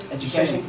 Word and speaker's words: Educaching: Educaching? Yep, Educaching. It's got the word cache in it, C-A-C-H-E. That's always good. Yep, and that means something that's hidden. And if you haven't heard of geocaching, then Educaching is totally unfamiliar, but I think most of